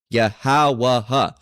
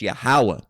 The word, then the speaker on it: Yahweh: Okay, Yahweh, which is not the correct pronunciation. It's Yahweh.